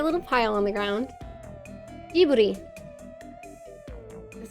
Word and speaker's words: Ghibli: Jiburi.